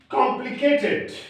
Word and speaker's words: complicated: For example, complicated, monotonous. Okay? All these are divided syllables. For example, complicated. Complicated. It has 4 syllables. And where shall we give the stress? Complicated.